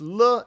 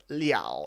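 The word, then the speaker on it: 了: you be open to reviewing when le is pronounced le and when it's pronounced liao if so thanks so yeah and we go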